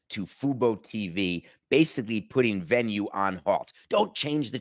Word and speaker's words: Venu: also on nothing personal venue without the e venu pronounced venue that combination without CBS